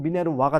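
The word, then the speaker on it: Minerva: 자, 미네르바라고 적었지만은 고전식 발음 미네르와가 되겠죠. 근데 이제 좀 많이 쓰는 말로 그냥 미네르바로 적었습니다.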